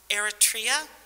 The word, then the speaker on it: Eritrea: which are pretty informative years he was in eritrea did i say it right yes during from